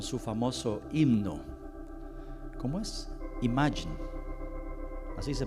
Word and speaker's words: Imagine: Imagine, así se pronuncia.